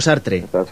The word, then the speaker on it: Sartre: Me gusta mucho Sartre, sí, así es como se pronuncia.